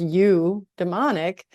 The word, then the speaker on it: eudaimonic: And it seems telling that this type of happiness is pronounced you demonic begins by putting you and not me first.